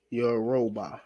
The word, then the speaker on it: Yoruba: And the brother said, Yoruba is how you pronounce them.